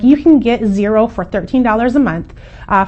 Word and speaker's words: Xero: talk about is zero and zero is spelled x-e-r-o we do use zero